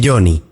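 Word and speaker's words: Joni: Johnny, que se pronuncia Johnny, era una atlética joven de 17 años nacida en Maryland.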